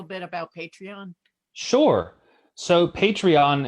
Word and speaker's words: Patreon: about patreon sure so patreon as you can sort of tell the word sounds like the word Patron and it's a platform